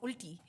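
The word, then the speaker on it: उल्टी: He said it's called ulti. Ulti. U-L-T-I. Ulti literally means Ulti. opposite. Ulti. In everyday lingo, it means opposite. Ulti, But okay.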